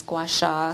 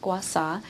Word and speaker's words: gua sha: One is known as gua sha, sometimes pronounced gua sa.